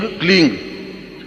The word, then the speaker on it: क्लीं: उस ऐं ह्रीं क्लीं, देखिए अब आपकी इसकी उच्चारण ध्वनि, एंग, रींग, क्लींग। मैं ग की ध्वनि के साथ उसकी बात बता रहा हूं।